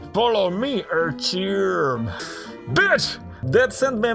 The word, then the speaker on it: Artyom: They couldn't pronounce Artyom. They're like, Artyom. It's not Artyom, it's Artyom.